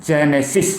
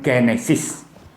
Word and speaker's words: Genesis: bahasa Inggris katanya Genesis Memangnya Genesis itu pengucapannya dalam bahasa Inggris kan bukan orang bahasa Inggris ya Atau orang Inggris itu menyebutnya jenesys ya jenesys bukannya Genesis seperti itu jadi seorang cendekiawan